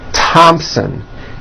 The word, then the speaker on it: Thompson: Although these next words and names are spelled with a TH, they are pronounced as if they were spelled with a normal T, like that.